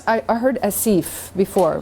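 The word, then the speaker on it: آسف: if not i heard asif before right so there's no yeah in it it's asif as if acid so long a short e as if as if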